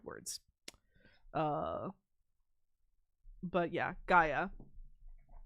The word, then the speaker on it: Gaia: Gaia is what I said. Gaa. Gaia. It's like everyone disagrees on the pronunciation. I think Gaia is closest to the actual Greek.